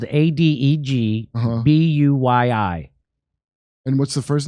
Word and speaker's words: Adegbuyi: His last name is spelled Adegbuyi.